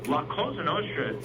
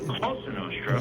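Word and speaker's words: Cosa Nostra: But it is concerning that that they can't even pronounce you know like for instance lenostra if you know anything about Italian doesn't even make sense it's closenostra not he also doesn't even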